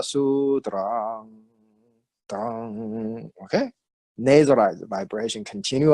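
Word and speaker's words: sūtram: But when we chant it as a Dharani, we extend the vibration of the last word, last syllable. Tra, drang. So it's Prajna Paramita Hridaya Sutrang.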